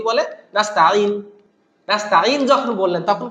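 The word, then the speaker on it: نَسْتَعِينُ: দেন আসেন ওয়া ইয়াকা নাস্তাঈন, আপনি এখানে যদি থামেন তাও টান দিবেন নাস্তাঈন, যদি না থামেন তাও বলবেন নাস্তাঈনু দিনাস, নাস্তাঈনু দিনাস, তাহলে নুনের পে সরাসরি হাকে ধরবে, আলিফটা এখানে সাইলেন্ট হয়ে যাবে, নুহদিনা। তো আপনি এখানে থামেন আর না থামেন এই নাস্তাঈতে একটু টান দিবেন, নাস্তাঈ আইন ইয়াজের এটা ইয়া আমাদের টানতে হবে।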